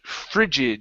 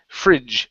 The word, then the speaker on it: frigid: to uh the word frigid you were close here instead of Frid fridge frigid frigid good one more time frigid